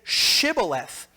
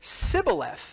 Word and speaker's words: shibboleth: i'm not right then say shibboleth and he said sybileth for he could not pronounce it right then they seized